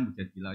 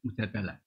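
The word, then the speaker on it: مجادلة: Yang benar itu bacanya mujadilah yang level A. Tapi umumnya orang baca apa? Mujadalah.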